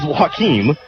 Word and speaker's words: Joaquin: seward county broadcast guys i asked if it was joaquin like phoenix i don't know why i made that connection but it is wahkeem walking 250 left to